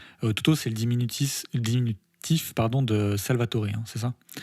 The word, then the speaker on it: Salvatore: Ouais, non, c'est vrai, mais c'est parce qu'en italien on dit Salvatore. Ouais. C'est la syllabe accentuée.